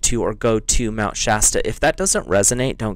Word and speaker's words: Shasta: So your message from Source is Mount Shasta, or Shasta, depending on how you say it. I say it Shasta.